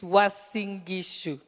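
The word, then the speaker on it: Uasin Gishu: But I think let me teach you how to pronounce Wasingishu. It's Wasingishu.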